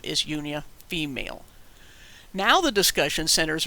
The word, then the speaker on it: Junia: about about with languages this is Junior this is how you pronounce it in English no they didn't have J's but that's how we pronounced it they would have pronounced that yunia a female Apostle later